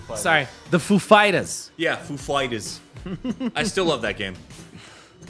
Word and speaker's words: Foo Fighters: much a fan I I love the story behind why Christopher Wen pronounces it that way oh yeah yeah yeah that gr told him the emphasis was on the fighters not the foo he's like so you